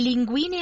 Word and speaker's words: linguine: Vorrei le linguine alle vongole. Vorrei le linguini. L-I-N-G-U-I-N-E, L-I-N-G-U. Oh, G-U-I-N-E, G-I-U-N-E. Oh, yeah, because it's a hard G.